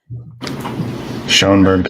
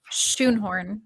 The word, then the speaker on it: Schoenhorn: Schoenberg coming up, right? Schoenhorn. We were pronouncing it wrong.